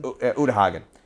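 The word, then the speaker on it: Uta Hagen: actually breaks down the is it ooda hagen utahagan um that's how you pronounce it um she breaks down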